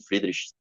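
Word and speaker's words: Friedrichs: O sobrenome é alemão, mas ele é um estadunidense, então eu acho que se pronuncia assim, Friedrich.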